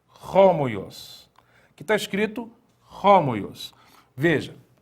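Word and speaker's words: ὅμοιος: Algumas vogais, elas recebem uma aspiração em que você percebe que muda um pouco a maneira de pronunciar essa palavra que leva, então, à aspiração forte.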